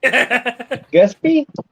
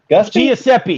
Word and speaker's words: Giuseppe: Pronounce that, Snapper. Man, I still have to lean way forward. Gusby? Giuseppe.